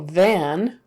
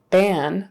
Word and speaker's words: van: V sound for very also van if you say ban that's a completely different word ban means like um